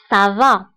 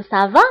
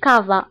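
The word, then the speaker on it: ça va: كا داكوغ نعطيكم اكزامبل سافا فاش كنقولوا سافا ما كنقولوش كافا مي كنقولوا سافا لان سي فيها لا سي دي سينو كون ما كانش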